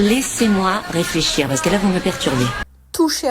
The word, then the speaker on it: vous me perturbez: devient toucher à rien vous me perturbez là aussi la prononciation est différente de l'écrit le me devient m on supprime le E vous me perturbez vous